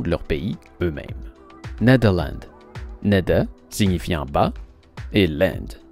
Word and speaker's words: Nederland: plus proche de la façon dont les néerlandais prononce le nom de leur pays eux mêmes nadeau landes neda signifiant bas et l'inde signifiant terre les